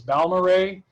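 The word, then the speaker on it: Balmorhea: i've been to within the state here is baumarei that's how you pronounce that it is way out in west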